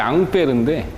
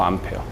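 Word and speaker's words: Ampère: 원래는 이제 앙페르인데 영어 발음으로 암페어.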